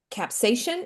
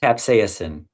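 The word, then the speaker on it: capsaicin: Um we've had a couple questions about is it capsation? Is that how you say it? Capsasin.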